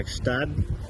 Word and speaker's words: Gstaad: faire un voyage à Gstaad. Déjà, le prononcer comme il faut, c'est c'est difficile pour nous. Il faut pas prononcer le G.